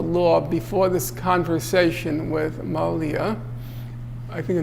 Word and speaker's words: Malia: So he knew something about the law before this conversation with Malia. I think her name is Malia or Mali. How do you pronounce it? What? Malia.